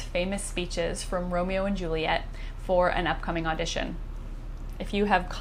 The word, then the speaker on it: Juliet: Well, first, in order to get 10 syllables, you discover you must make Juliet's name 2 syllables instead of 3. So it's Juliet instead of Juliet.